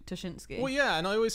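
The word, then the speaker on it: Ptaszynski: A lot of people got quite sad when you evolved from pronouncing it, well, as some people said wrongly, Trzynski to Tuschinski.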